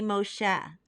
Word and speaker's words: Moshe: drawn from the water in Hebrew we say Moshe an Arabic it is Musa and in English we pronounce it as Moses Miriam the older sister